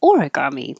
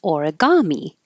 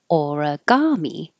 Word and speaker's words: origami: guza or dumplings I found out I've been pronouncing this wrong I've been saying origami but it's not it's origami origami and this is from um Miriam Webster's sentence